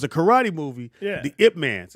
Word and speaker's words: Ip Man: The Ip Mans. It's IP Man, but it's actually pronounced Yip Man, or Ip, whatever it is.